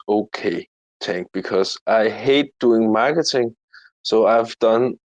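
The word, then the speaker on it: ห้า: It's connected to Thai culture, because in Thailand, the way you pronounce five is the same way you say ha.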